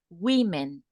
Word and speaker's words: women: a either there yeah but the pronunciation is like that women okay the the plural